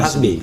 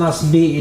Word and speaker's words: Nasbi: Nasbi ya bukan Hasbi. Nasbi. Asalamualaikum warahmatullahi wabarakatuh. Waalaikumsalam. Wah luar biasa ya. Jadi, sahabat sekalian, eh Hasan Nasbi ini dari Cyrus Network.